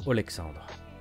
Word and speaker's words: Alexandre: Alors oui, le prénom, vous avez peut-être l'impression que je l'ai mal prononcé ou que j'ai fait une faute, mais parce qu'en fait, toute cette histoire se déroule en Russie.